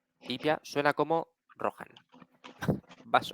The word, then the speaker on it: Rohan: señores de los caballos en la pronunciación de gondor ch como en alemán cales etcétera se ha suavizado hasta convertirse en una aspirada aproximadamente J una H aspirada aproximadamente J en castellano Así rohan iia suena como rohan